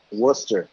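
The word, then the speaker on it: Worcester: Stern whoops that's it first your math work Wooster Wooster Wooster what's what's what's in Western I've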